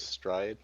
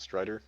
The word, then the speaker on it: Stride: his name's last name is stride not Strider it's just prder St